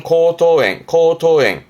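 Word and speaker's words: 喉頭炎: 발음은 코토엥.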